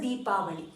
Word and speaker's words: Deepavali: never use Diwali in Canada Canada please always pronounce as a deepavali so today we are learning few sentences which